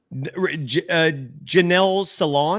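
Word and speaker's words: Janelle Salaun: Janelle Salon, is that how you pronounce it?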